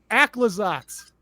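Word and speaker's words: Aclazotz: I have the official pronunciation. Also, I guess we should just- Aclazats.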